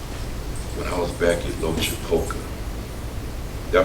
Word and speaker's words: Loachapoka: When I was back at Loachapoka, did I pronounce that correct?